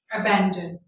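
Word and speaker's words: abandon: जो अल्फ़ाबेट ए है उसको हमारे कल्चर में थोड़ा सा मिस प्रोनाउंस किया जाता है, उसके साउंड को सही तरह से नहीं बोला जाता। ए जो है उसको हम आ बोलते हैं हमारे कल्चर में, लेकिन वो आ नहीं होता, ए होता है, ए।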